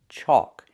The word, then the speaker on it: chalk: It has the a l where the L is silent. Chalk. It makes the a sound like walk and talk.